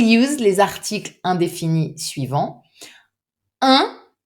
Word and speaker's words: un: Un, very nasal and not easy to pronounce, so be careful with this one.